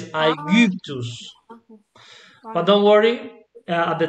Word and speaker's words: Aegyptus: the letter Y, la letra Y, as in Spanish we call it Y for a reason, because it comes from Greek, okay? So this has a different pronunciation to the letter I. So it's like a French U, do you know U, this sound? So it's Aegyptus.